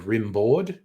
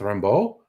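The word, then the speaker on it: Rimbaud: the French uh philosopher Rambo uh when you see it written it looks like rimo but he's French it's Rambo and this guy did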